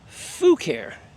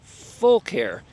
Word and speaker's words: Fucare: But the company told me the correct pronunciation is Fucare because they are full of care. They care about their customers. They just don't have the L in the spelling, but that is how you pronounce it.